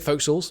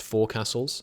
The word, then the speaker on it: Foxhall: We're not going to take Foxhalls. By the way, I feel like the comments are going to say, Christo, that's pronounced four castles. No, it isn't. That's pronounced Foxhall.